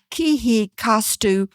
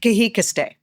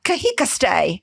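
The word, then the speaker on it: Kihekah Steh: And my favorite, she was appointed headwoman dancer for the 2010 Kihei costumeu pow-wow. Did I say that right? Not quite. Come on, say it. Kahikaste. Oh, Kahikaste. Pow.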